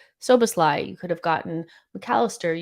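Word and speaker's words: Szoboszlai: we know now, you could have got Sabasalai, you could have gotten, or Soboslai, sorry. Somebody told me that it annoyed them so much that I didn't say it correctly. Soboslai, you could have gotten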